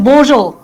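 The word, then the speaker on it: Bonjour: দেখো ফ্রেঞ্চ আমরা বলি হ্যালোকে বোজো, উচ্চারণটা একটু কঠিন আছে, বোজো।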